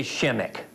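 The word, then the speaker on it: Przemek: of consonants in it the P is silent the r is silent disease it's all silent just say Shimek those eggs are like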